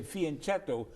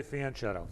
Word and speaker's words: fianchetto: anglicized pronunciation and say fianchetto but if you're true to the italian language you would pronounce it yeah i learned that from you you learned that i used to say fan shadow okay well i'm teaching